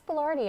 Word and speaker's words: boulardii: Which makes sense because there's 2 I's at the end of it. Right. So. But if you remember it, Chef Boyardee, but Boulardii. So we talked about gut